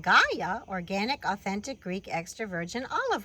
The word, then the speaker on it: GAEA: It is called GAEA organic authentic Greek extravirgin olive oil. In Greek it would be more like ye-ah because the g is more like a y sound in Greek meaning earth or land.